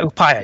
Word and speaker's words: Upaya: You mentioned Upaya, or how do you pronounce that? Yeah, Upaya, yeah.